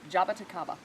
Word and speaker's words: jaboticaba: today this is called jaboticaba it totally does job at Aqaba so this one it